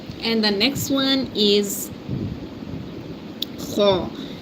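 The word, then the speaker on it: خ: This is letter comes from the top of the throat and pronounce from here. This is the top of the throat and pronounce from here and say kho, kho. It's a full mouth letter.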